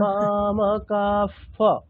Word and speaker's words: মামকাঃ: মামকা, এখানে বিসর্গটাকে আমরা কি বলবো? তাই তো, তাহলে ক ক কাফ পাণ্ডবাশ্চৈব। মামকাঃ পাণ্ডবাশ্চৈব। ফর উচ্চারণটা হলো না তো। হ্যাঁ, আচ্ছা আর একবার দেখুন। মনে হয় আমার হলো। মামকাফ মামকাফ পাণ্ডবাশ্চৈব মামকাঃ পাণ্ডবাশ্চৈব কিমকুর্বত সঞ্জয়।